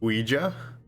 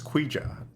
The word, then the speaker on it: Ouija: I learned for the first time that it's Ouija and I thought and this whole time I thought it was quija I thought it was the there was a